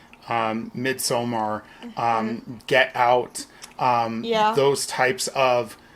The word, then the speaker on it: Midsommar: I know some people say Midsummer, but we are purists. It's Midsommar. I've never checked to see how anyone in the movie pronounces it, but I'm pretty sure. I'm pretty sure. Like, it ends in AR.